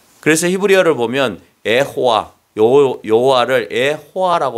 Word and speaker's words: 여호와: 너희를 구원하신다 여호수아의 히브리의 언어인 여호와라고 하는이 의미가 여호와가 구원하신다는 거예 원래 히브리어로 호라고 하는 거예 여호수아